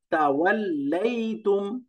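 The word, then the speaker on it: تَوَلَّيْتُمْ: এরপরটা তাওয়াল্লাইতুম, অনেকগুলো অক্ষর, তা, ওয়াও, দুইটা লাম, একটা ইয়া, এরপরে তা, মিম, 7টা অক্ষর আছে।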